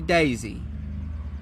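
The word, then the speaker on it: Daise: I'm saying Daisy. It's spelled D A I S E. But I'm gonna say Daisy like Boise Idaho.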